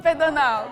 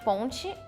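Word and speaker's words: ponte: Pono. That's interesting. In Portugal we say pon just pon. In Brazil it's ponchi but if we're talking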